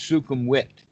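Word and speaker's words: Sukhumvit: v for their sound the letter w for instance sukum wit rode but it's spelled with a b and i think there's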